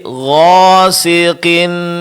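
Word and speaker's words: غاسق: Huruf qaf memang huruf tebal ya, Pak ya. Tapi ketika dia berbaris kasrah, berbaris bawah, ketebalannya berkurang. Jadi gosqin bukan gosi tapi gosiqin idza waqob. Coba Pak Gqinza waqob. Jadi ketebalan pada huruf qof itu berkurang ya, Pak. Ketika dia berbaris bawah.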